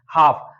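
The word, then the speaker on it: half: एच ए एल एफ तो एफ के पहले एल आया है तो यहां पर क्या है ये होगा साइलेंट यहां पर भी एल होगा साइलेंट हाफ हाफ का मतलब होता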